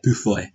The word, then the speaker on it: Beaufoy: It's like Beaufoy. Pronounce that for me, Michael. Wait. Beefou. What? Beaufoy. Beaufoy. I'd say it sounds like French. I'd be like Bouffoy. Bouffoy. Right. Okay, that makes sense. Like bouffe bourguignon.